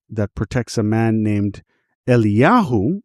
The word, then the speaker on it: Eliyahu: protects a man named Eliyahu, which is translated in English as Elijah, but it's not Elijah, the prophet from the Bible. So one of these texts, protects this man named Eliyahu, son of Esther, from